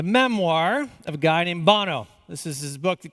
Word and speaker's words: Bono: Bono, some of you call him Bono, unfortunately. It is pronounced Bono.